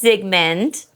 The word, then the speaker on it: Zygmunt: This is Zygmunt. So how did we get the name? I'm on it. So Marley / Sigmund Freud, which is how you pronounce it.